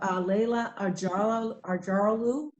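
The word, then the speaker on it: Leyla Acaroglu: yeah, and I just want to make sure too that you're aware, next week for our flagship innovator, we have Leila Arjaralu. That's the correct pronunciation of her name.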